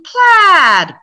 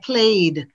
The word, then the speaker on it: plaid: another crazy one plain plaid plain plaid you hear the difference my students always try to pronounce it like played or they say played no a ah plain plaid you hear that difference okay so some of